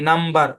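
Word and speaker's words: numb: ও এম বি কম এন ইউ এম বি নাম টি এইচ ইউ এম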